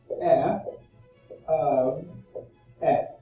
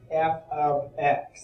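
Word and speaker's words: f(x): unique it's actually pronounced f of x so that green symbol here is pronounced f of x so i guess you could say that the parentheses is the letter of or the word of so it's f of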